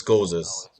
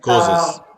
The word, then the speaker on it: causes: yeah yeah but but in English we pronounce like a z not like an S those causes causes causes okay yes